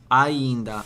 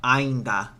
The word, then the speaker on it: ainda: So, it's not it's a right like the pronunciation of so ainda. Okay. So, that it's not ainda, right? The I gets the E sound.